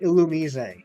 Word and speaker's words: Illumise: pronunciations hear them Kyurem whatever also says it's pronounced illumise so REM and Stimpy isn't the thing see